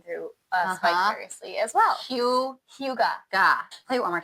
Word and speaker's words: hygge: Like Hugh Hefner. Yep. Gah. Okay. Hyoo-guh. our friend Amanda is living through us vicariously as well. Hyoo-guh.